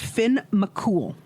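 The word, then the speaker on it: Finn McCool: right, we're just going to say the proper pronunciation is Finn Mcool.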